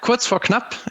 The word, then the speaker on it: Kurz vor Knapp: about it so uh quotes for club as we germans would like to pronounce it is basically a measuring